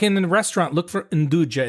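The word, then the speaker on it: 'nduja: you she that she's heard of it called induja which is a spreadable sausage and it's made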